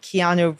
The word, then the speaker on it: Keanu: his friend's pronunciation of keanu reeves name so his friend was calling him canoe reeves yep and those were